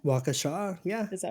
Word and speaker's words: Waukesha: Setting our scene, we are in, I think it's pronounced Waukesha. Waukesha.